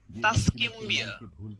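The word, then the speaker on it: Tuscumbia: Helen Keller was born in 1880 ইন তাসকিম্বিয়া, ওকে, বা তুসকম্বিয়া, যেভাবে বলেন, এটা হচ্ছে একটা নাউন, এটা জায়গার নাম। সো এটা আপনি যেভাবে আপনার উচ্চারণ করতে সুবিধা হয় সেভাবে বলতে পারেন।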